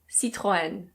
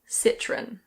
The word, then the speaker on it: Citroën: In French this is pronounced Citroën. Citroën. But in British English people normally say Citroën. Citroën.